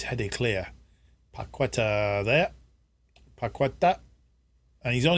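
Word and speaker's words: Paquetá: uh but uh oh petta I trying to pronounce his name correctly paketa and he's gone all the way on his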